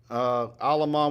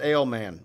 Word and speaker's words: Alamont: Alamont with one L. Am I saying it right? Or is it Ailman? No, that's Alamont.